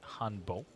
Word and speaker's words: hanbok: looked it up and even though it's spell hanbok I think it's spell Han I think it's said to be Hano dealers wearing the traditional Hano the K is silent there are some Indian